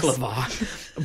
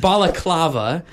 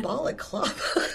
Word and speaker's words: balaclava: not baklava. Balaclava on. Balaclava.